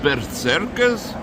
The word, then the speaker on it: berserker: And the proper pronunciation for Vikings is vikinger.